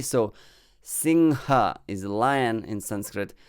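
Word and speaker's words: सिंह: anger in english so and this is ha and not gha or ga which will be slightly more bengali accented word it's not gha or ga it's ha okay so singha is a lion in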